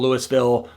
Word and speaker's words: Louisville: I go any further in Colorado we pronounce it Louisville we still say Louisville for Kentucky but the town here we call louville don't judge me I'm